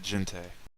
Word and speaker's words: Jinte: I've always pronounced it Jinte. Jinte.